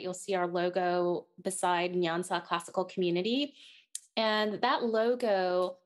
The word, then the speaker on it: Nyansa: Tell our listeners what the name, and I apologize, I did not pronounce it correctly. Nyansa. Nyansa, is that correct?